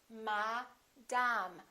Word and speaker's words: madam: The other thing these words have in common is that the first syllable is stressed and the second syllable is reduced.